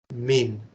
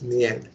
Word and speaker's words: mien: So here, by assuming the gentle mien, let me see how it is pronounced. Min, not mien, min.